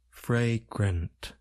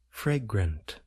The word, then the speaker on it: fragrant: sounds a and a we generally Place stress on the first part of the word fry it involves the